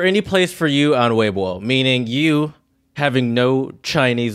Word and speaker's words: Weibo: pronounced, I believe, more like Weibo. Or is it Weibo? Yeah, it's Weibo.